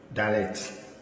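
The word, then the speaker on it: דלת: Then we have Dalet. Dalet. So this is a D sound.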